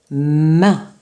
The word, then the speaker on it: main: Main. J'entends M et un. Main. Donc, il s'écrit ce petit mot avec la lettre M et on va écrire le son 1 avec les trois lettres A, I, N.